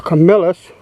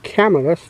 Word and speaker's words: Camillus: But this is a Camillus or Camillus, depending on how you pronounce it.